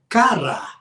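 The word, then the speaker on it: קָרָא: Olha a Clamar em em hebraico é cara que a e a cara com acento na última sílaba na última letra agora a melhor tradução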